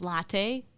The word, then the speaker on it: Lite: Her name was Latte. It was spelled like Lite, light, but it was Latte.